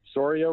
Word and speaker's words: Soria: So he says, "At Brewers, biggest effing joke in at MLB, Soria rhymes with diarrhea, and he is exactly that.